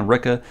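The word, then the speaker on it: Rikke: i i don't know he starts calling her sticky ricky i think to kind of say that's how what her name is pronounced like in this book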